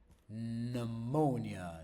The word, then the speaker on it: pneumonia: Can, snow, pneumonia.